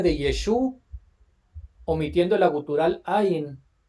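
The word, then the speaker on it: עין: La Ain, es que la letra Ain se pronuncia, es una gutural, se pronuncia Ain, Ain, es muy, muy rara esa pronunciación, Ain. Es como si lo dijéramos de manera gangosa, Ain, igual a Aleph o la Ay, Het, que son ay, guturales.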